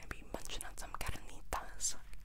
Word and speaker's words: carnitas: That doesn't make sense, but we're going to be munching on some carnitas. Can you roll your R's? Carnitas.